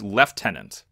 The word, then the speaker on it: lieutenant: This game thought it was super important to tell you it's pronounced lieutenant.